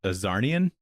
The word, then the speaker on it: Czarnian: that he's a Czarnian, because it's like a C and there's a Z in there, which is like kind of edgy, you know what I mean? Yeah. But then he's like silent letter is so edgy.